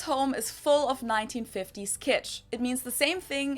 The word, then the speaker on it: Kitsch: is full of 1950s kitch it means the same thing in German and in English and it's also pronounced the same there's also the English